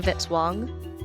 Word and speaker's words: Vitzwong: Music by Kevin Vitzwong, rhymes with hit song.